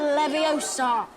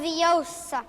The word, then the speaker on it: Leviosa: Wingardium Leviosa. Stop. You're going to take someone's eye out. Besides, you're saying it wrong. It's Leviosa, not Leviosa.